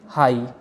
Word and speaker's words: high: जैसे कि हाई, HIGH, यहाँ पर GH इस वर्ड के लास्ट में आया है तो हम इसको इस तरह बोलेंगे हाई, हाई।